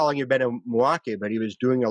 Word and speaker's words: Milwaukee: show he did in milwaukee milwaukee sorry sorry i said it more than two syllables um and he came